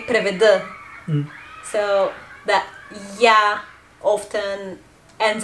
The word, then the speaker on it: преведа: we write преведа, but we say преведа.